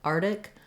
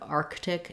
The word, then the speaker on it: Arctic: So the main error that I hear in these words is that people will sometimes leave out this first k sound. They'll say it more like Arctic or Antarctica instead of Arctic and Antarctica.